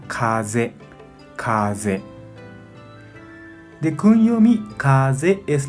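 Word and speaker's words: 風: Onyomi pronuncia fu, fu. Kunyomi pronuncia kaze, kaze.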